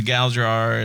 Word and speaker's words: Galdrar: I know, like, I'm new to Galdrar and everything that's happening.